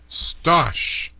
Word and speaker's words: Stosh: And gentlemen, you've got a call from Michigan, Stosh. I hope I pronounced that right. So Stosh, welcome aboard. Yes, you did pronounce it correctly, Morgan.